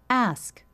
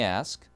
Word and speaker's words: ask: 그대로라고 발음 하는 거죠 ask 이게 미국식이 영국은 ask입니다 오케 완전 다르죠 문장 속으로 들어보면 뭐 제가 물어볼게요 그러면요 let me ask 제가 물어볼 요 미국식이